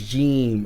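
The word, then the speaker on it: جيم: Okay, because it's not Jim. Remember we were talking about the phonetics. It's important because when you read the phonetics, sometimes if we read it in English, we won't know how to pronounce it in Arabic. Okay, so the letter is Jeem.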